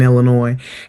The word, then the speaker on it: Illinois: You know the S is silent in Illinois.